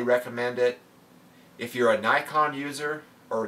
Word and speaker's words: Nikon: If you're a Nikon user, or Nikon if you're in the rest of the world besides America, that's how they say it, then, you know, I would still look at the 7D.